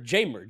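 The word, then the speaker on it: Jeimer: there yeah the time jamer jamer candelario it's like James James that's why I love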